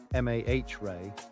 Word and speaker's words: mare: uniformly bright with fewer dark mares lava filled impact basins pronounced Mah Ray than the near side